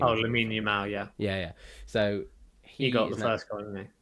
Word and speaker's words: Lamine Yamal: No, Lamine Yao. How do you say his Oh, name? Lamine Yamal, yeah, Yeah, yeah.